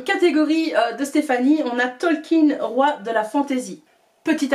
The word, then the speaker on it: Tolkien: de stéphanie on a talking roi de la fantaisie petit aparté ça se prononce bien talkin et pas talk yahoo tolkien hashtag prof d'anglais donc